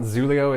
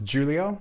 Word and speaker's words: Xulio: It's not Xulio, it's Xulio, so that's important.